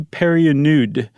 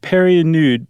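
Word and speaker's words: Pernod: And Emily married another uh man, uh, Henri Louie Perionude. And Perinude. Perinude. Sorry, I was adding an extra syllable in there as I do.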